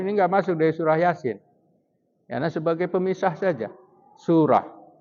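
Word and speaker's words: يس: Ya, kalau dibaca sambungnya yasa. Padahal kita bacanya yasin.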